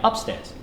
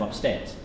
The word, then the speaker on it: upstairs: in English language and very often in two syllable words the stress in the English one is on the second syllable and we hear that a lot from Russian speakers on the first one so you might say something like upstairs instead of upstairs and here's a big